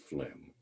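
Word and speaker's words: phlegm: the most common misspelled Health words in healthc care is pronounced flim you don't know how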